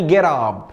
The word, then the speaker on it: get up: لما تلاقي تي ما بين تو فاولز ما بين متحركين بنطق زي واتر زي ليتر زي كاتر زي جيت اب.